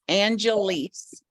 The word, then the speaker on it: Angeles: to spell it is angelise angelise like Los Angeles similar a-n-g-e-l-e-s and the last name